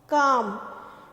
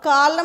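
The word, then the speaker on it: calm: उसके बाद आता है हमारा क्या, काम। तो काम में हम क्या साइलेंट रखते हैं, ल, कालम नहीं बोलते हैं, काम बोलते हैं, L इज साइलेंट, ओके।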